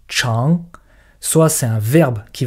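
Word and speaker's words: 长: Soit c'est un adjectif qui veut dire grand et dans ce cas-là on prononce chang.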